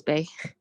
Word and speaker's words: Bae: Bay or BAE, however you pronounce that. It's Bay here. Hi, Professor. Yeah, it's Bay.